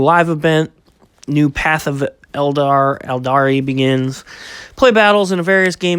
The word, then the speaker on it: Eldar: I don't know if that still gets pronounced Eldar or Eldari or however it gets pronounced. It's Eldar. Everybody knows. Everybody that plays it knows it's Eldar.